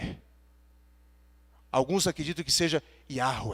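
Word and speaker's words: Yahweh: alguns acredito que seja Yahoo é e não existe a pronúncia Jota no hebraico portanto não é Javé nem Jeová no entanto se você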